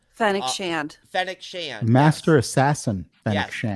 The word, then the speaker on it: Fennec Shand: Fennec Shand.